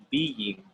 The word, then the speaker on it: being: two words, been and being. Been and being. Can you repeat after me? Been. Being. Being. Being. Yeah, so one has one syllable, the other one has two.